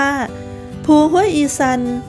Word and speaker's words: ภูห้วยอีสัน: อำเภอ สังคม จังหวัด หนองคาย ภู ห้วย อีสัน อ่าน ออก เสียง แบบ พี่ น้อง ชาว อีสาน ว่า ภู ห้วย อีซัน ชื่อ ของ ภู นี้ เป็น